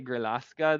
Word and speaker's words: Grillasca: Okay, I'm gonna say Grillasca then, and not try not to butcher it too much by trying to pronounce it in Spanish.